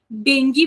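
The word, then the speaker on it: dengue: ठीक है ठीक है जैसे कुछ शब्द अलग होता है उसको प्रोनाउंस अलग किया जाता है तो मेडिकल में ना डॉक्टर उसको देंगी बोलते हैं ठीक है बच्चा पार्टी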